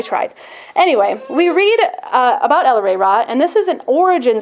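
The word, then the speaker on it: El-ahrairah: So it's El-Re Ra, which Adams actually goes through a little spiel to make sure you're saying it right.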